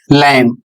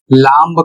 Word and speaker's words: lamb: यहां पर शब्द है एल ए एम बी। और इसका सही उच्चारण होगा लैंप। यदि आप इसका उच्चारण लैंप करते हैं। यह लांब करते हैं। यह बिल्कुल गलत है।